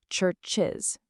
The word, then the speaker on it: churches: Both of these end in those strong ch and j sounds. Because of that, they absolutely require the full is extra syllable to be pronounced correctly. Churches, judges. If you try to say them without that extra beat, your tongue is just going to get completely tied in knots.